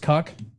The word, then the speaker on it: KCUK: to be called KCUK, which they will never pronounce, but it's pronounced cuck.